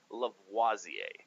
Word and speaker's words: Lavoisier: It's Antoine Lavoisier is how you say his name.